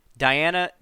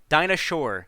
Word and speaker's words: Dinah Shore: the largest gathering of lesbians on the planet diana dina shore weekend diana dina dinah dinah shore yeah dinah shores how it's pronounced yeah dinah shore weekend it's on my